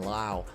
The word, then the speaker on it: Lowe: at another guy brandon lau loved this guy don't know why it's pronounced wow when his own teammate nate is pronounced low that's not confusing at